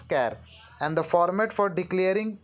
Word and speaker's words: char: data type is char care it is pronounced as care and the format for